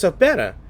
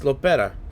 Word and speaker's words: Lopera: I thought it was Sopera, but it is Lopera.